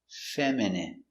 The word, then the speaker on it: feminine: feminine like a girl pronunciation feminine fe feminine feminine feminine feminine feminine feminine stress on the first syllable feminine feminine your dog